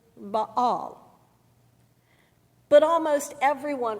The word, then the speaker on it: Baal: word about that name the proper pronunciation in Hebrew as I learned from my old testament professor in seminary is Bal but almost everyone pronounces it baale so it shall be